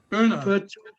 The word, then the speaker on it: Pune: Do you pronounce their ground Poon or Pune? Pune. I've heard two commentators call it both. Pune. Pune. I just thought Pune. Pune.